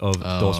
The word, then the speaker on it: dos: We pull a firecracker and I say uno, dos, tres, and so I don't pronounce the S at the end of dos or tres, and that is a southern Spain thing.